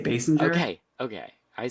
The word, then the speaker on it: Basinger: The I think I add more like the hard letter to it versus I feel like what's the opposite? Passenger? Basinger. Oh yeah. I guess I add more of the hard G Okay, there.